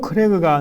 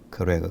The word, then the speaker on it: Kröger: 하지만 점 이 두 개인 'ö' 를 글로 쓸 때 는 'o' 다음 에 'e' 를 사용 합니다 . 모음 두 개 를 사용 합니다 . 이는 'o' 발음 을 'e' 쪽 으로 당겨 발음 해야 한다는 뜻 입니다 . 요점 은 이것 이 단모음 이라는 것 입니다 .